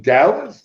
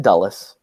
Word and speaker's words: Dulles: Are you saying Dulles? Because I know you pronounce words differently than I do. Do you mean Dallas? No, not Dallas. Okay, Dulles.